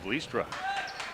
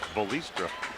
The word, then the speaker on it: Vlistra: top over to kade vlistra heard some people use three syllables in his name volistra but us being of uh in a dutch community we know how to say all the names and here warden gets